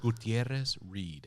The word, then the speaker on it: Gutierrez: where is guterres right uterus hannah uterus gutierrez gutierrez gutierrez noted that there should have been no